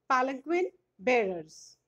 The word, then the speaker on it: palanquin: Poem 2, Palanquin Bearers.